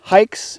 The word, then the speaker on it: HAIX: there there's the logo it's pronounced hikes it's h a iix